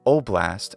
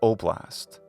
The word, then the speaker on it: oblast: higher or more fronted so when we hear the Ukrainian word we're not sure if it sounds like a or ah and for this reason both oblast and oblast sound reasonable to me the capital city of